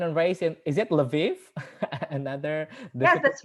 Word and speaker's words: Lviv: She was born and raised in, is it Lviv? Another. Yes, that's right. Okay. She was born and raised in Lviv, Ukraine, and she graduated from the Ivan Franko Lviv National University in 2016 with a bachelor's degree in Japanese language.